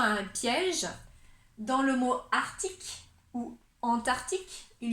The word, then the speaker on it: arctique: On pourrait dire arctique, comme un arc, et après tic, arctique.